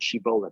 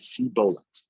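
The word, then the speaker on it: שיבולת: should say the word, they say the word Shibolet, but if you're from Ephraim spoke a different dialect, and they didn't pronounce the Shin properly, and they said Sibolet.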